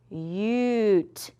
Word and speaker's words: cute: Ah, ah, cut, cut, but if I add that silent E, remember its job is to make the U say U. So, let's sound it out with the U sound. Ready? C-u-t-e What's my word?